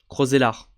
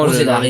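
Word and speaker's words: Roeselare: Donc on prononce pas le E à la fin. Roselare. Ok. Donc vraiment, Roselare, Roselare.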